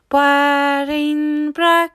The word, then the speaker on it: bairín breac: Bairín breac (traditional cake for Oíche Shamhna), bairín breac (butchered into English as 'barnbrack', or worse 'barmbrack').